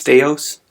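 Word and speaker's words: θεός: the it's actually pronounced theos that's the word the or the the first letter is the th sound and of course we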